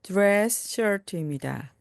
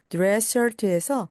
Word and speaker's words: dress shirt: 그리고 드레스에서 S, 또한 shirt에서 S가 겹치기 때문에 앞에 있는 S는 발음하지 않습니다.